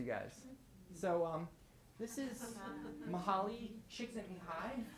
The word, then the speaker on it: Csikszentmihalyi: So this is Mihaly Csikszentmihalyi, pronounced Csikszentmihalyi, and this is Howard Gardner.